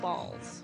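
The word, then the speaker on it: Bawls: said no and that soda is called balls but it's spelled b a WLS most people say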